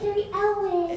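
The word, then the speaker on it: Cary Elwes: a hard preschool life for that guy it's car Elis it was well have you been to Oklahoma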